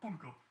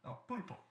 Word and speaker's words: pulpo: Punko. There's an L. You guys just said two different things. Oh, I didn't spell it. Spell it. Pulpo. Pulpo. Oh, pulpo.